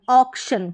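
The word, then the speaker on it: auction: Pronounce करेंगे, श न, टी आई ओ एन। और भी इसके उच्चारण रहेगा, जन करके भी होता है, लेकिन यहाँ पर शन करके है, तो ओ क, ऑक, तो यहाँ पर ऑक हो गया, फिर शन, ऑक्शन, क्या हो गया, ऑक्शन, तो इजी हो गया ना पढ़ना।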